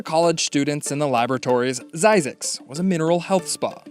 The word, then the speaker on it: Zzyzx: zzyzx a real place it has a real pronunciation xyzax the word was coined by curtis springer he